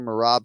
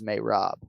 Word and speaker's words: Merab: if we could hear marab say his name uh here at this point in time on the program alrighty thanks dwali so everybody says marab sounds like he says may rob i already voiced the